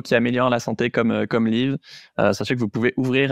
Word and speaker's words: Lyv: Et allez jeter un coup d'œil évidemment à Liv, ça s'écrit Lyv.